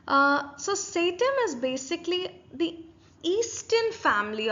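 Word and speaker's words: satem: go with that okay I pronounce it as sattim I believe that is the right pronunciation of it I could be wrong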